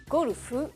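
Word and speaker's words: ゴルフ: golfeer Saro tout d'abord sachez que golf se dit tout simplement en japonais kolufu et s'écrit comme ceci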